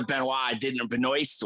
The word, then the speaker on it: Benoist: to play Supergirl, and then pretend like Melissa Benoist, however you pronounce her name. Benoist, yeah.